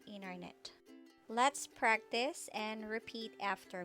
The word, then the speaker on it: internet: silent t after n the t after an n is often silent in american pronunciation instead of saying internet americans will frequently say internet let's practice and repeat